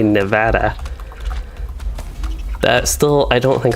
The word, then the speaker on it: Nevada: Nevada. No, that was a little bit stressed on the O at the end. Nevada? There. Took me 3 tries, but I think I said it right.